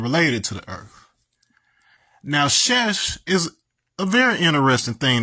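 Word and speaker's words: שש: as the uh letter was evolving that is pronounced shesh which is the exact same thing as this right here. So shesh and it means six.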